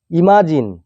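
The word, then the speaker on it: imagine: দেখো নিচের কতগুলি শব্দেও জি এর উচ্চারণ বর্গীর জয়ের মতো হবে। যেমন জিঞ্জার, জিআইএন জিইআর, জিঞ্জার। জিঞ্জার মানে আদা। ইমাজিন, আইএমএ জিআইএনই, ইমাজিন।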